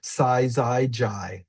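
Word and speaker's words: syzygy: Size JI is three syllables. S Y Z Y G Y.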